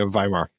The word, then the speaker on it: Weimar: but is it the Weimar era or Weimar? Am I saying it wrong? Yes, it's a V sound at the beginning of the name, yeah. It's a V. Okay, Weimar.